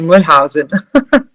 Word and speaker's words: Mollenhausen: A nossa campeã, Nathalie Mollenhausen. Essa é a pronúncia? Perfeita. É exatamente assim, Mollenhausen.